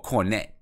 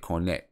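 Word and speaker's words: Kornet: And listen, I really do like Luke Cornett, or Cornette. That's how you say it, Cornette.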